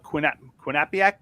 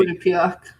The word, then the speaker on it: Quinnipiac: Uh Laura Tomkins points out that quin quinapiac. Quinnipiac. I can never pronounce it correctly. Quinnipiac.